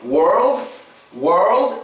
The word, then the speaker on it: world: But when you're saying world, it is good for you to protrude your lips when you're saying world. It really helps for that proper O sound to come out.